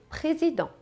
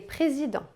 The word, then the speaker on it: Président: Você percebeu que em nenhum momento eu pronunciei o T no final? Pois é, essa é mais uma das regras importantes e fundamentais da pronúncia francesa. Na maioria das vezes, nós não pronunciamos as consoantes finais em francês.